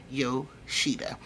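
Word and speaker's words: Yoshiba: Cove but I am yo Sheba I'll try to put the pronunciation across the screen for you guys the eye is e so it sounds like to eat but anyway if you're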